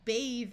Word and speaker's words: bathe: I bathe every night, we add the E, and the E makes the A take its long A sound. So this is bath with a short A. This becomes bathe. Not only does the E make the A take its long sound, it changes the TH to the voice sound of th.